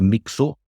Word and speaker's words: Mixu: mikah hackin Mah um so if you're Mika your nickname in Finland is either mxu or and I was mxu and and in Finland it's it's spelled with the KSU um so I say to the journalist and here in Scotland that J put mix mix um and and they spelled it with an ex and and I saw